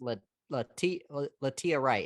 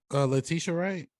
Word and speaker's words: Letitia Wright: But I also will say this, Latia Wright. Is that how you say her name, Cherise? Letitia Wright. Letitia Wright, yeah.